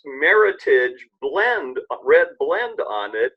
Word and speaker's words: Meritage: was a national contest somebody came up and mashed up merit and heritage so it's actually pronounced Meritage not Meritage and it's the Meritage